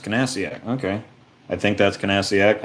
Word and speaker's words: Nasiak: and Nasiak, Nasiak. The K is silent, as in Niffin, I'm sure. Maybe it's Kanasiak. Sometimes weird stuff like that happens.